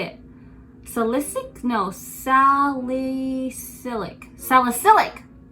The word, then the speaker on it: salicylic: do you say it solicit no sally silic salicylic salicylic just excuse my english okay it's my second